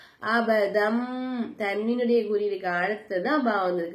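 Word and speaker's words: أبدا: அழுத்தி உச்சரிச்சோம் மண் அபதம் தன்வினுடைய குறியீடுக்கு அழைத்து தான் பா வந்திருக்கு பாக்கலாபுடைய எழுத்து சரிங்களா சரிங்களா உடைய எழுத்து அப்ப நம்ம என்ன செய்யணும் தன்வினுடைய குறியீடை மீமா மாத்தி நம்ம உச்சரிக்கணும் அபத்தன் அப்படின்னு சொல்லாம அபதம் அப்படின்னு சொல்லணும் சரிங்களாமா அபதம் ஐதி அடுத்ததா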